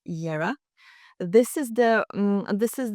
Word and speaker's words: Jera: So yes, first like I showed you, first you paint Jera or Yera. You pronounce pronounce is Yera.